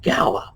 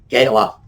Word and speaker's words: gala: Same thing with gala. You hear that gala. Somehow it's like we want to raise that pronunciation and make it sound a bit snootier, or as the Brits would say, a bit more posh. No, gala, that's it.